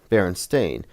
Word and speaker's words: Berenstain: I knew how to pronounce stain. So if it was spelled A-I-N, I would have known. Berenstain. The E-I-N threw me off because that's how it's not pronounced.